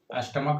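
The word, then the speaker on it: stomach: में लेते हैं स्टमक स्टमक में देखि स्टमक में सीच का उच्चारण य च नहीं हो स्टमक का उरण क्या होगा को मोनार्क एम ओ एन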